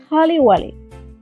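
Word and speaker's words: خله ولي: Leave it or forget it, which is khaliwali. Khaliwali. Khaliwali. Khaliwali. The pronunciation is a little bit tricky.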